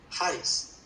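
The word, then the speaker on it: χάρις: Y ya en la parte del Nuevo Testamento, en el griego, la palabra se escribe charis, con CH, y se pronuncia charis, y es la G5485, y aparece 156 veces en la Biblia.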